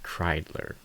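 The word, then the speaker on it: Kreidler: I think it's Ryan Kriedler, I believe. I think that might have been what I was calling him before, but I did look into it and that is how you pronounce it.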